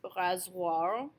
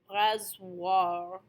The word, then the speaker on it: rasoir: So the most common is OI, is pronounced wa.